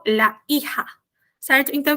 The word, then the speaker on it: hija: El hijo, la hija. Certo? Então, o que eu já tinha dito? Encare esse J na pronunciação como RR.